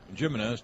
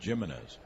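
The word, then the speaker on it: Gimenez: In case you're wondering, Chris Jimenez came up to Cleveland, and everyone thought his name was Jimenez, and they asked him. He said, no, I pronounce it Jimenez. That's why it's with a G.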